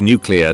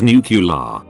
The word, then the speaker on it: nuclear: - some people believe the word nuclear to be pronounced as nucular despite the lack of a you've al between the C and L within the word I just shoehorn that